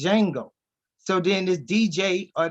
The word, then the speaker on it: Django: joser even in Django he says the D is silent so it's just Django so then this DJ